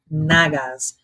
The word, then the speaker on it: Nagas: I wouldn't listen carefully, it swears it sounds like I'm saying Nalgas. But it's Nagas.